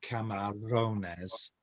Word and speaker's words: camarones: extra a little trill if it's in the middle like uh uh camarones uh you would really rule it um yeah and it